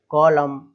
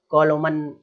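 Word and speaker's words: column: बाद अगर एन आ रहा है तो एन साइलेंट हो जाएगा। ऑटम, पतझड़, है ना, ऑटम, कॉलम, है ना कि कॉलोमन, ऑटोमन, अरे भाई ऐसे नहीं पढ़ना है ना, ध्यान रखें इस चीज को, कॉलम, है ना।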